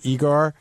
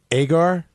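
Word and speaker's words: Egar: But I think I said his name wrong. I said it's Igor. It's really Agar. Yeah, Shuli Agar, but I said Igor.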